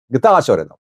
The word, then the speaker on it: Getachew Reda: People say you pronounce Getachew Reda's name wrong. His name's pronunciation is Getachew Reda.